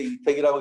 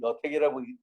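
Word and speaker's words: 麗澤: 근데 이제 주역을 공부한 사람은 이걸 이제 이택이라고 읽는 거고 주역 공부를 안 한 사람은 여택이라고 읽으면 아, 이 사람이 주역을 읽었구나 안 읽었구나 구별이 되죠. 여기서 여라고 발음할 때는 곱다라는 의미가 되고요. 이라고 발음하면 걸려있다. 서로 연결되어 있다. 그런 의미로 생각을 하시면 됩니다.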